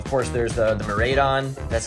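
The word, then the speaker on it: Miraidon: and then uh of course there's uh the marade on that's how you say it ex alt art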